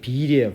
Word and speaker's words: will: 자, 그런 뜻이 있는데 이게 실제로 이 독일에서는 이 will이 발음이 빌이에요. 빌. 왜냐하면 독일어에서 영어가 많이 발전을 했습니다. 그래서 이게 이 볼인데 이게 독일어에서는 아직도 이 will을 will로 읽어요.